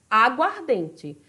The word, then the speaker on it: aguardente: Então, na palavra aguardente, qual é a minha sílaba tônica? É o DEM. Aguardente, tá certo?